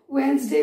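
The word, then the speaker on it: Wednesday: नाउ वेडनेसडे, डब्ल्यू वेडनेसडे वेडनेसडे, इसको वेडनेसडे को डी हम लोग साइलेंट रखते हैं, हम लोग इसे वेंसडे भी कहते हैं।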